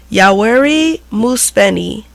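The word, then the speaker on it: Yoweri Museveni: so Ugandan president yauri um hold on gotta pronounce this right it's a yoweri mus feni signed the anti-homosexually homosexuality act a bill that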